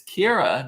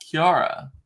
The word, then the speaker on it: Kiera: was like you know her name is Kiera it's like Cara but with the Kia Kiera right and I just saw her on Friday uh and she knows that I love to make fun of her on the story and I'm like why the didn't you tell me how to say your name I've been saying it all this time and it's Kira not Kiara I'm like don't it's